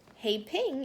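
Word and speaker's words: 和平: were from China we would say peace like hey ping hey ping is how you say peace in Chinese Claire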